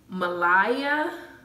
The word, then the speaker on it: Mahalia: Her name is Mahala. Anyway, it's spelled Mahalia.